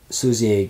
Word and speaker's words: Sluizer: him and the director, Sluizer, is how you pronounce it? Sluizer, yeah.